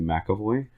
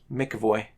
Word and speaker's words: McEvoy: Would that be McAvoy? No, it's not an A. McEvoy. Mickey Voy.